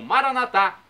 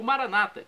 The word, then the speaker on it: Maranatá: de Jesus, eu clamo, Maranatá. Como dizemos nós católicos, com a tônica na última sílaba, o Maranata, com a tônica na penúltima sílaba, como dizem nossos irmãos separados, os evangélicos ou protestantes. Não importa, a pronúncia e